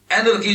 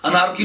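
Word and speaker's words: anarchy: ناراض ہوا، فوضویت ہوئی، اینرکی جس کو کہتے ہو، اینرکی انگریزی میں اسے کہتے ہیں، انارکی پاکستان کی انگریزی میں اس کو انارکی کہتے ہیں، لفظ اس کا تلفظ ہے اینرکی، این بیسٹس ہے۔ اینرکی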